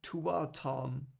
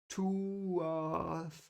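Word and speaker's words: Tuatha'an: I'm sorry. Tuatharn. I'm just gonna see how it's pronounced so I don't mispronounce it all the time. One moment. There it is. I see it already. Tuatharn. Tuatharn. I'm sorry because I'm German. The th is not so.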